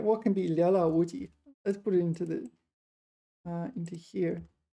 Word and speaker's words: 寥寥无几: 料料无敌. Is that right? Sorry. It's a 成语. Hold on one second. No, I got the pronunciation wrong. 寥寥无敌. 寥寥无敌.